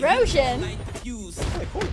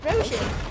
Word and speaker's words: Roshan: The actor is Hrithik Roshan Roshan? Roshan.